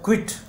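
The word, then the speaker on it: quit: होता है बिल्कुल, बिल्कुल शांत, ही वॉज क्वाइट साइलेंट। फिर है क्विट, क्यू यू आई टी, क्विट means छोड़ देना, जैसे क्विट इंडिया मूवमेंट।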